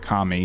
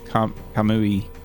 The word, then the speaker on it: Kamui: into K kamui Kami it's not Kami it's kamui I think how you say it almost kame but there's you in there I need to get